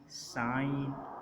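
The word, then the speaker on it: sign: जब एन बाद में एन आ रहा हो और उससे पहले जी आ रहा हो तो जी को हम प्रोनाउंस नहीं करते। तो इसमें बोला जाएगा फॉरन, साइन और फेन।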